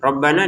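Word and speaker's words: رَبَّنَا: Rabbana lima harakat panjang karena kita mau menggabungkan sama hamzahnya.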